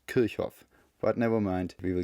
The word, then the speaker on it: Kirchhoff: By the way, Kirchhoff, it was an originally German guy and it's actually pronounced Kirchhoff.